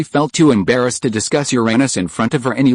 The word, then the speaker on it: Uranus: Coincidentally, the pronunciation of Uranus is the same as your anus, so Ron's "Can I have a look at Uranus?"